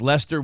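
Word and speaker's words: Leicester: Wooster and gler and Le and Lester are pronounced Lester Worster and Gloucester yeah the W Worchester warer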